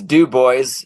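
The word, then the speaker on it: Dubois: workor believe it or not um you know but he paints out of what Dy how it's it's du boy is how you say it in in Wyoming so yeah but uh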